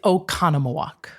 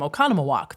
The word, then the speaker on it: Oconomowoc: It's Oconomowoc.